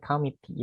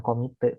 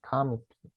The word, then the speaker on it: committee: Dibacanya committee ya, bukan komite, tapi committee.